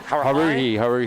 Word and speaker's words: Haruhi: And I was like, how do you pronounce this? Is that Haruhi? Haruhi, it's yeah.